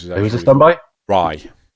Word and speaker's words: Rai: Rye. I believe you pronounce it Rye. R-A-I.